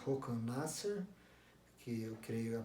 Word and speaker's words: Håkan Nesser: gênero, que é o Håkan Nasser, eu creio que se pronuncia assim em sueco, que é ele em